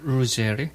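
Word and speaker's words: Ruggieri: 저기 본토 발음을 한번 해주시죠. 아, 루제리?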